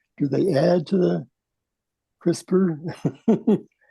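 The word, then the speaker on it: CRISPR: That's and it's pronounced crisper although I thought it was pronounced crisp R in the I don't know why I thought it was but it is pronounced crisper like with an eer.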